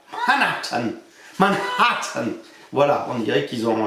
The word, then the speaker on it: Manhattan: Ils disent pas du tout Manat. Si vous disent Matatan vous ne serez pas compris.